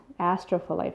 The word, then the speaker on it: Astrophyllite: Let me see if I can pronounce this. It's called Astrophyllite. Astrophyllite.